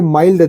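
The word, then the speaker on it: mild: है इंग्लिश ज lots of एक्सपेक्स exception देखि माइल्ड देखि मतलब कोमल जो होता यहां पर भी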